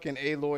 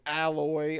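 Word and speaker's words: Aloy: like oh it's him all they know is a-loi and then they mispronounce her name alloy i'm like somebody was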